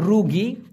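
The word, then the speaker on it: rugi: সেটা হলো উনতুং আর রোগী আর ইউ জি আই উচ্চারণটা হবে রোগী এই রোগী মানে হলো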